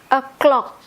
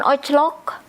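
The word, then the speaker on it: o'clock: Inggrisnya titik titik titik a clock a clock walaupun ini tulisannya O kita bacanya e jadi bukan oclok o tapi e clock e clock nulisnya o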